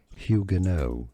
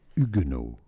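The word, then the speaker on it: Huguenot: The French pronunciation the H is silent so do not pronounce it. Now in English it's generally pronounced as hugeno hugo. Hugeno but in French ugeno.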